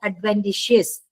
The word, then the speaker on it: adventitious: एंड दूसरा है एडवेंटिशियस, pronounced as एडवेंटिशियस, ठीक है।